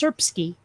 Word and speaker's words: Srpski: Srpski. Srpski. Serbian. Okay, okay, close enough. Hold on a sec. Okay, it's just pronounced Srpski. Mm-hmm. Yeah, you kind of just imagine that some of the vowels are there.